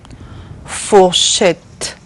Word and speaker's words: fourchette: So, the last one is et. Et. Et. Fourchette.